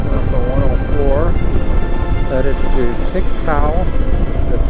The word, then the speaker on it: Pictou: Headed to Tictou. That's how it's pronounced. Sure, Pictou.